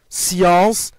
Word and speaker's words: science: Deuxièmement, SC se prononce se dans science, piscine, ainsi de suite.